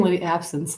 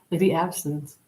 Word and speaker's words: Lady Abstinence: I keep saying Lady Absence like the like the drink, but you don't drink. Lady Abstinence.